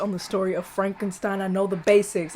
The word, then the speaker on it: Frankenstein: how you doing sir it's pronounced Frankenstein well why isn't it